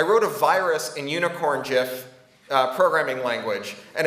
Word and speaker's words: GIF: things like having glitter unicorn gifs it is pronounced Jeff and they would script the unicorn jiff with a toy programming language that would let